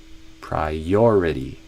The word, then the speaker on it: priority: Então não é prior, é prior. E entre your e I, o your tem ainda mais ênfase do que o I. Priority.